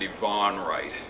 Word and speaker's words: Ivan Wright: Naturally, he's an 8th Slovakian, so he pronounces it Yvonne Wright.